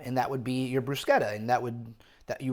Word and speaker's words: bruschetta: So, first thing we're going to do is make some brusqueta. It's not bruschetta. Uh, it's the proper pronunciation is brusqueta.